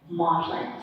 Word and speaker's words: Magdalene: that the very mean Magdalene and the older English is pronounced wobblin maudlin and you look up